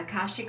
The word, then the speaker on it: Akashic: cards and how do you say that um collar shake yeah Akashic records so once I seen that on the